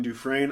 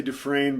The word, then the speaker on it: Dufresne: I'm going to say Dufresne because I know that's how you say it in English. These guys were Germans. Dufresne is a French name. I'm not sure how they said it.